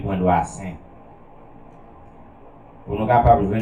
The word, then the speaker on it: Doicin: Doissin, pour le monde qui va connaître, on va faire la donne, c'est D-O-I-C-I-N. C'est comme ça, Doissin.